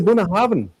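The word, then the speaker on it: Bunnahabhain: Did did I pronounce it right? Yeah. Yeah. And it's a buna haven.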